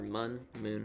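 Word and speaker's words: Mün: Because of the dots above the U, it should be pronounced Moon, but a lot of people just called it the Mun. I like Mun a lot more, honestly.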